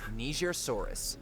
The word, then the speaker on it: Nigersaurus: 19, Nigersaurus. The Nigersaurus. Good thing you pronounced it correctly.